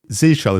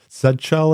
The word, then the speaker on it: zsh: Anyway, yeah, Zshell, is that how you pronounce it then? Or Zell in the UK, I guess. I think people also say Zh and then Zshell. You can pronounce it any way you want.